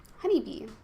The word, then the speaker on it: HoneyBii: HoneyBii, like that. B-I-I for B, not bi, because 2 I's is E.